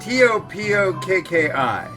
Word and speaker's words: Topokki: It's Topokki. Topokki. Topokki. So, it's a cross between a D and a T. It's what they call a soft T. It's like T, D.